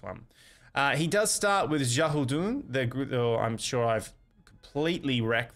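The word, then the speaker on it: Xiahou Dun: He does start with Shahudun. I'm sure I've completely wrecked that. It's Shahudun. So X is usually pronounced as like an S.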